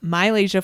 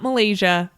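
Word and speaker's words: MiLaysia: most recently we've gotten Corrections from myasia Full Wy not Malaysia myasia full Wy at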